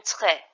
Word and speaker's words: très: It pronounced the E sounds. just like that in set or get. An example of this use of grave accent can be found in très, très, très, which means very.